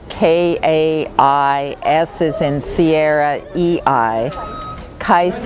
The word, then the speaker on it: Kaisei: project kais is devoted to cleaning up the Pacific vortex, the north pacific gy area.